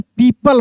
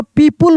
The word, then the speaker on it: people: Near a tree, बहुत सारे लोग गलती करते हैं, इसको पीपुल बोल देते हैं, पीपुल नहीं पढ़िएगा, पीपल पढ़िएगा, ठीक है ना, पीपल.